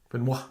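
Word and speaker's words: Benoist: Pretend it's B N W A H. Benoir.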